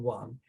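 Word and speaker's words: 王: So this character is second tone Wang, and it illustrates a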